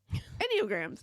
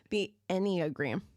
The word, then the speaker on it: Enneagram: It's Enneagrams. Did I say it right? Did you say Enneagrams? No, I didn't. I never say it right. What is it? The Enneagram. Enneagram. Mm-hmm. I feel like you have to teach me this every time. I do. Put an A in front of the gram.